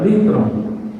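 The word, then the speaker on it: λύτρον: A palavra resgate, ela é uma palavra que é pronunciada litron, é a palavra para resgate.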